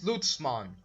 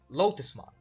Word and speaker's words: Lotusmon: So, yeah, Digimon number 8 is Lutzmon. I mean, sorry, I pronounced that wrong. Lotusmon.